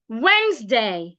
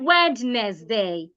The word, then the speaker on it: Wednesday: like Z it retains its s sound listen Wednesday it's not wedness day Wednesday receed not rece receip muscle not muscle